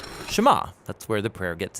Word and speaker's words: Shema: is hear or listen which in Hebrew is pronounced shama that's where the prayer gets its name now